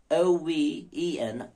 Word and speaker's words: oven: break and stake but Bleak and streak cloven oven how and low c-l-o-v-e-n cloven o v e n oven so it's not cloven oh one no